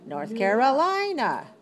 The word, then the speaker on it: North Carolina: North Carolina. North Carolina. North Carolina. How many syllables? 5. Okay, where's the stress? 4.